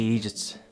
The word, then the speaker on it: eejit: The word is derived from the Irish pronunciation of the English word, idiot.